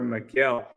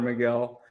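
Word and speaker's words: Megill: saturated less of Tyler McGill um spelled like Taylor McGill but it's Tyler Miguel um cool interesting obviously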